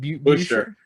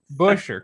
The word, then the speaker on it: Buescher: Is it Buescher? Buescher. Chris. Even better. Even Go better. with the Chris most NASCAR Buescher. way to say the name, and you'll have Chris Buescher.